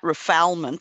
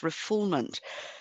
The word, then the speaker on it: refoulement: It's called refoulement. Looks like refoulement, but it's pronounced refoulement. And that means handing over an asylee to the persecutors after having granted political asylum. Yes. So that would be refoulement, and it is the foundational law of political